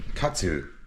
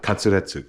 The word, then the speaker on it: katsu: I'm going to be cooking some katsu right now. Tonkatsu. Ton means pork. Katsu is Japanese pronunciation of cutlet, a shortened pronunciation of cutlet. Katsuretsu, cutlet.